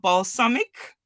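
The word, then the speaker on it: Balsamiq: one mispronounced any anything you did it's called balsamic like the balsamic Source although it's spelled differently and it's girkin syntax so you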